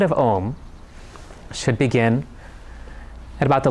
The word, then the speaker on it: Om: Swami says that Om has 4 syllables. A, U, M, and then silence.